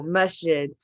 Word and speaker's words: masjid: you said to not call a mosque oh masjid yeah okay yeah that's how you say it